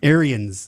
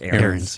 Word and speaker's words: Ariens: Arians. It's not pronounced that way, but that's a lot of people spelling-wise. say that, but it's pronounced Aaron's.